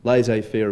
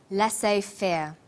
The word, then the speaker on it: laissez-faire: he uses the phrase laissez faire laissez faire is a borrowing from french it closely reflects the pronunciation of the original language and the original spelling do you know the